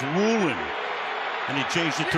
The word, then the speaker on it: Woolen: football knock it away spelled like it should be woen but he prefers Woolen and he changed it